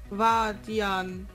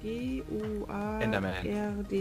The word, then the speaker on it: Guardian: Vardian. What? What? Ich habe keine Ahnung, ob ich das richtig ausgesprochen habe. Dann Chris und ich so gleichzeitig. What? Pass auf, lest das mal vor. G-U-A-R-D-I-A-N.